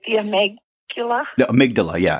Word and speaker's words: amygdala: um am I saying it right the Omega amygdala yeah amygdala amygdala okay about about that and about that